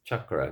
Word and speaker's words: chakra: And ch is not sha in most languages. It's cha. So if you see it written in the donagury script when it's written in Sanskrit, it is the symbol that spell that makes the sound cha. So just so you know, and it's not ah, it's chakra, not chakra. So it's chakra. Uh, it's an uh, not an ah.